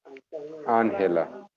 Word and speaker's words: Ángela: Ángela. Ángela is English, is Angela, but the accent is on the first A.